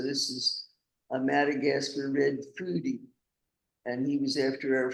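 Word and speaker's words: fody: And this is the the O is pronounced food. So this is a Madagascar red foodie, and he was after our food.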